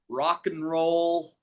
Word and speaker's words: rock and roll: We we usually say it like this. Rock and roll. Rock and roll. Yeah. The and is not emphasized. It becomes an in the middle.